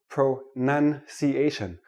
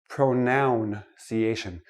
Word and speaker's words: pronunciation: let me start with this word pronunciation not pronounciation it is not a pronoun a pronoun is I